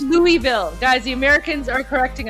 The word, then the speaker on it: Louisville: If you Oh, it's pronounced Louisville, guys. The Americans are correcting us. It's not Louisville. It's Louisville.